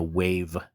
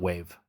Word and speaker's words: WAV: And it has to be in a wave file, dot wave or WAV, whatever you want to pronounce it.